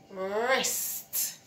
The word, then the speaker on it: wrist: And this one is wrist. Your wrist. Wrist. See? The R is there, so it tells the W not to talk. So you say wrist.